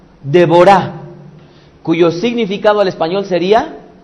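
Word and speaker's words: דבורה: o más bien dicho la pronunciación correcta en el hebreo sería devorá devorá cuyo significado al español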